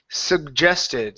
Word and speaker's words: suggested: okay next up is suggested so a couple of things here the first G is a good sug the second G is a sug gest suggested okay now make sure